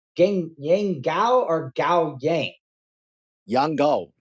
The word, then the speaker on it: Yang Gao: Yang Gao. Yang Gao, okay.